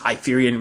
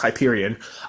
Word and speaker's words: Hyperion: I think it's Hyperion I think in the first episode I refer to it as I fear Union but I think it's pronounced Hyperion I'm Heights that hook